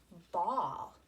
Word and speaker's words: bawl: And I started with ball. Notice how this word is spelled. B-A-W-L.